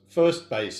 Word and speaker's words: 1Base: little bit about our new operation uh first first base pharmaceuticals is the way it's pronounced we're going to talk a little about